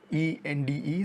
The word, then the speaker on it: Ende: Firstly, it's based on a novel by Michael Ende, E-N-D-E, so I'm guessing it's pronounced Ende.